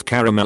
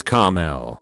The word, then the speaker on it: caramel: When someone pronounces caramel as caramel, there is an A in that word.